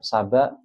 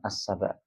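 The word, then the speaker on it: سبأ: Saba tidak menggunakan alif lam. Muhammad, Ibrahim, Nuh, Luqman, Thaha, Maryam, Yasin, macam-macam. Saba bukan asaba tapi hanya saba saja.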